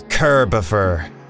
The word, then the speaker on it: Kirbopher: It's Kirbopher. Ah.